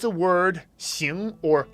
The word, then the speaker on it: 行: Rick, on It's a Word, xíng or háng. This is one of the few characters in the foundation course that has two very common pronunciations that are separate and have separate meanings.